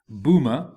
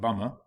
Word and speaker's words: Bhumma: The first group of Devata, the Bhuma or Earth Devas, pronounced as Bhuma, not Bumma, do not have a Bhumma.